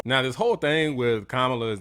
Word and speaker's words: Kamala: day still don't know, the correct pronunciation, not that anybody cares, but for the sake of this video, I'll make sure that you know, is Kamala. It's that simple. Not even going to repeat it because you're probably going to hear her name a couple times during this video. So real simple, Kamala, and a lot of people mispronounce it.